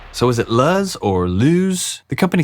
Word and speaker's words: Luzz: In certain parts of the world, that would be pronounced lose or lose. But here in America, we call it lo.